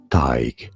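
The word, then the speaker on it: Tadhg: Tig is how it is said.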